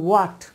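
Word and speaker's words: what: সো এটা হট না, এটা হচ্ছে হোয়াট, সঠিক উচ্চারণ হচ্ছে হোয়াট।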